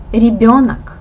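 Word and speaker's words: ребёнок: okay and the last word for today is ribbionic this sound you should pronounce like in the word her bionic republic is a child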